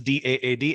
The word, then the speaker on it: DAAD: DAAD, as you lovingly called it, is actually, it's pronounced as DAAD, every letter individually, but I think in India, at least, everyone calls our organization DAAD.